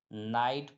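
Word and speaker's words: night: आई जीी एच टी इसमें जी एच आ रहा है लास्ट में आ रहा है तो जी एच क्या हो जाएगा साइलेंट हो जाएगा तो एन आईजी एसटी को हम क्या पढ़ेंगे नाइट पढ़ेंगे क्या पढ़ेंगे नाइट पढ़ेंगे उसी प्रकार एफ आईजी एच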